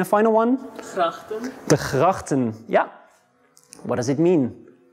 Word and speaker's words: gracht: Gracht. Gracht. One more time. Gracht. Gracht. Yeah. So there's a G, there's an R, and another G. So we actually pronounce this one as a G as well.